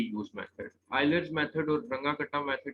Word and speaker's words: Runge-Kutta: ठीक है, जैसे आयलर्स मेथड था, इस मेथड का नाम है रंगा कटा मेथड। ये जर्मन जो है बेसिकली प्रोनाउंसिएशन है, रंगा कटा।